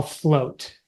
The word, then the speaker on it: flowt: So that is what we call float. And yes, so Gino masterfully made a word one day, and I was like, that's amazing. It's spelled FLOWT. And it is what happens when fear no longer drives you.